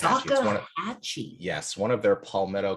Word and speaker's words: Salkehatchie: But then it's Salkehatchie. Salkehatchie. It's Salkehatchie.